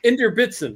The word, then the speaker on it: Inderbitzin: But it's Inderbitzin, right?